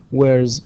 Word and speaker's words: wears: The rah sound, the صوت الرا يعتبر voiced، ولذلك هنا رغم أنها تكتب S إلا أنها تنطق Z، فنقول علي usually wears شماغ، wears not wears not S، وإنما هي تكتب S ولكن تنطق Z.